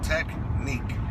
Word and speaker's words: technique: yes sir okay can you repeat those two syllables again technique very good when you pronounce the word technique